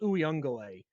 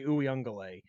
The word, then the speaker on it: Uiagalelei: I think it's just Uiagalelei. But if there's an extra Ungaga in there somewhere, forgive me, but I'm just going to say Uiagalelei.